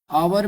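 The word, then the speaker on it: hour: में B silent है आवर में एच साइलेंट है ठीक है साइलेंट लेटर्स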